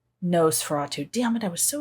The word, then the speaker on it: Nosferatu: Nosferatu? Nosferatu.